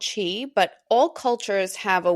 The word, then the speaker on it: Qi: Chi is spelled Qi in case you're trying to picture it as we are talking because we will mention a few times during this conversation.